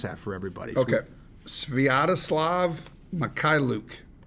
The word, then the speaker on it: Sviatoslav Mikhailuk: Maybe for the listeners, you could, in a little bit of slow motion, pronounce that for everybody. Okay. Sviatoslav Mikhailuk.